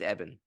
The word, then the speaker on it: Ebon: with a guy named Ebon yeah I found out uh Dan pronounced eban okay yeah said it's it's it's eban eban bakarat well to be